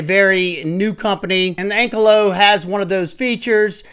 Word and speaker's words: Ankylo: take a look at the brand new vste ank Colo at least that's how they pronounce it so that's what I'm going with